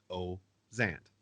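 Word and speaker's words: Özant: story behind that but I say it and my father says it as Oh Zant just oh and Zant now everybody sees the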